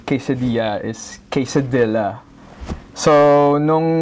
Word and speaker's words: quesadilla: for me it naturally it naturally rhymes with Manila where I came from so D Manila d